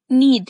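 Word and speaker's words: knead: यहाँ पे देखिएगा के एन ई ए डी इसको हम क्नीड नहीं बोलेंगे, इसको बोलेंगे नीड यानी के गूंदना मलने.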